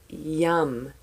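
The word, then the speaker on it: yam: it glow is yum yes technically I know it's spelled a Y a M however English English whatever it's a sound it's vibration so I like the fact that it's your heart chakra so I say yum why you am yum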